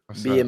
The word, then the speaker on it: Beier: Beier Moretti. Yeah. Spelled like that.